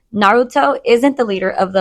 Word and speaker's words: Naruto: Am I the for saying Naruto isn't the leader of the Illuminati? I'm going to say yes, cuz I don't know what any of that meant. You don't know who Naruto?